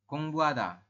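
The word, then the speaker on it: 공부하다: kayak gitu contoh ini tulisannya gongbuhada tapi teman-teman nanti membacanya adalah gongbuhada Kung buada ya jadi haknya samar Tidak jelas saabun kalau ha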